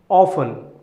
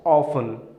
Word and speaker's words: often: to our third word often Oh fun often here letter T is silent so you pronounce it as often not of ten all right so what